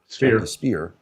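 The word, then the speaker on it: Speier: How do I pronounce that name? Speer. Speer.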